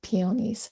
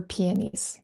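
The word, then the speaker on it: peonies: I love peonyies or peies. I hear it said both ways. How do you say it? Peonyies. Peies.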